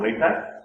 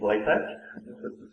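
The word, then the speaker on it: LaTeX: couple all right uh no it's not pronounced leex it's lat um so I decided to go with latc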